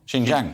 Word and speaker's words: Xinjiang: I I've never heard of it so I'll spell it for you x-i-n-j-i-a-n-g XI Jing xinjiang xinjiang right okay so there has been protests